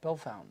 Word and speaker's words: Bellefontaine: Bell Fountain. We were saying Bellefontaine, all French.